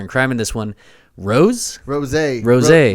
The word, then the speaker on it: ROSÉ: So, I think it's Ros. We're gonna stick with Ros in this one. Ros, I guess rhymes with Jose, which is what Justin's goatee looks like right now.